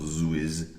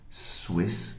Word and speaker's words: Swiss: Okay, and again, careful with the pronunciation here. Switzerland is not Switzerland. Switzerland. And Swiss, not Swiss. Swiss. Maybe it's Swiss after you had a glass of wine.